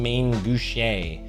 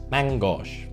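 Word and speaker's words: main gauche: Mutilate, obviously, and Main Gouche. And actually, I'm pretty sure I found out it's pronounced Mangouche, whatever.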